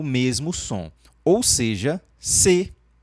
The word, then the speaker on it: ces: Então esse C aqui, ó, C, onde você não pronuncia o S, significa esses ou essas ou estes e estas.